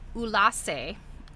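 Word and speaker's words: Ulassai: Anybody can get their hands on some thread, So she was born in 1919 in Ulassa. It's spelled Ullassai, a remote village in the mountainous interior of Sardinia.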